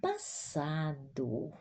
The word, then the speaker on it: passado: Ela decidiu mudar de emprego no ano passado. Observa aqui, ó, como eu pronuncio passado, porque tem duas S. Senão fosse uma S. Aí era como um som de Z.